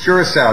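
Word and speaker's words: Curaçao: Is it Curacao? Is that how you pronounce where you guys are? It's Curacao, yep.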